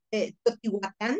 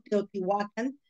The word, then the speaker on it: Teotihuacán: Por ejemplo, no sería Teotihuacán, es castellanizado, Teotihuacán sería una pronunciación más cercana, ¿no? Al náhuatl, a esta lengua.